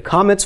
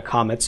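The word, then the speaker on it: kamatz: Comets bowel okay now I've told you that is pronounced ah as in father and in fact it is in Sephardic Hebrew hmm okay it is also pronounced in the Yemenite dialect but in Ashkenazic the Comets can be pronounced as a short O or almost it's almost an AW sound aw okay that's in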